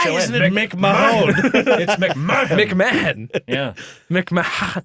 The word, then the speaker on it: McMahon: know why is it why is it pronounced McMahon and not make my own Bridget Alex there's no